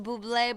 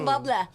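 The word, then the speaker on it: Bublé: that that guy that's real babe like Robert Buble but he isn't I think wait which he's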